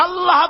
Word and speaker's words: আল্লাহ: আল্লাহ পাকের উচ্চারণটা হচ্ছে, আল্লাহ পাকের নাম উচ্চারণ হচ্ছে আল্লাহ। মুখটা একটু গোল হয়ে যাবে, বলেন আল্লাহ আল্লাহ আল্লাহ।